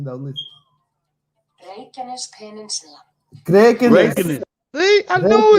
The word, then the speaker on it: Reykjanes: Listen, this is Iceland pronunciation, though. Listen. Reykjanes Peninsula.